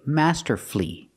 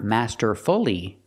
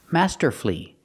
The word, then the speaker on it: masterfully: l l y and the stress is on the first syllable then the U is silent that's when the U is silent that's why we say master flee Master flee not master fly make it three syllables